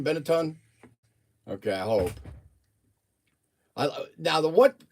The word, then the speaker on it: Benetton: Is that how you pronounce that, Benetton?